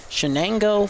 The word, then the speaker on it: Chenango: and we had to double-check the pronunciation. Chenango Forks Blue Devils.